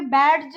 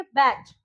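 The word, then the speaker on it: badge: Same similar word है देखिए बैज, तो यहाँ पे बैज नहीं बोलेंगे हम बोलेंगे बैज।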